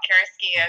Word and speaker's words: Carrasquillo: Thank you for getting my name, pronouncing my name correctly. A lot of people get that wrong. Carrasquillo, thank you.